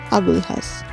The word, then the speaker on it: Agulhas: হ্যাঁ বানানটা এল দিয়ে শুরু হলেও উচ্চারণটা হচ্ছে আগুলহাস।